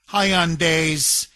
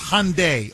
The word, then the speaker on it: Hyundai: I see a Korean, but there's no Y, it's Hyundai. Okay, Mike is telling me I'm mispronouncing it. It's Hyundai, not Hyundai. Okay, so Hyundai, the Y is silent.